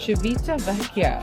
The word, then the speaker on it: Civitavecchia: How do you pronounce it? Civitavecchia.